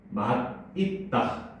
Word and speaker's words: 맛있다: 바로 맛있다. 자, 이 단어는 맛있다가 맞을까, 맛있다가 맞을까? 일단 맛있다라고 봐요. 보통은 그렇게 많이 발음하잖아, 그렇지?